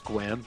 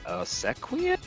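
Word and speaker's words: Sequim: other one, it's- when I moved out here, is getting people to pronounce squim because you just write it. It's like Oh, yeah. pronounce that. Or sequium.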